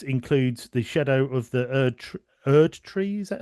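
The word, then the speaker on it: Erdtree: But it's uh worth noting that this includes the shadow of the erd tree. Is that how is that you pronounce that?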